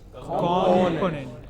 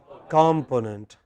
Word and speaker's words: component: Component. Yes, but many people, many of us in India pronounce it as component, which is not correct.